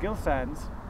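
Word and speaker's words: Gill Sans: up in the corner, there's a little, do you prefer Gill Sands? Is it soft G or hard G? Gill, as in Eric. Eric Gill. Gill Sands.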